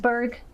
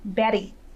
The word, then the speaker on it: Berg: It looks like it's pronounced Berg, but it's pronounced Betty. So Betty actually means mountain in Swedish.